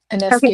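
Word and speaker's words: Ionescu: Um, but the neat part is Sabrina and I I'm gonna say her last name wrong. Anescu. Did I say it right? Anescu.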